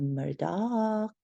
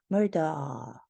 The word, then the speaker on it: Murdaugh: with the last name his name is pronounced differently by different people some people call it Murdock and other people call him murder murder murder due to